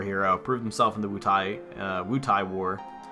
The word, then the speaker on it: Wutai: Not sure if it's pronounced Wutai or Wutai. I always said Wutai when I was a kid for some reason. Like I pronounced the A and the I as different syllables.